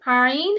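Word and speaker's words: ع: তো এই যে কত এই খারাপ ভাই হাল্কের মাঝখান থেকে উচ্চারণ হচ্ছে আইন হ্যাঁ।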